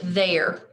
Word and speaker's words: their: as you would expect, but the E and the I are the tricky parts of the word. You would probably expect these letters to be pronounced I, but they are pronounced eh.